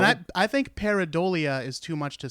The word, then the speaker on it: pareidolia: spoke about shadow people right I referred to parody Leah pareidolia which is the tendency in humans to find patterns where none exists I remember except it's not because it's actually pronounced pareidolia pareidolia you know there's there's there's gotta be some